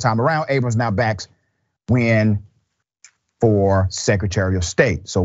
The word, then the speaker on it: Nguyen: It is spelled Nguyen, but pronounced Nguyen. I had a great conversation with Miss Nguyen just a couple of days ago.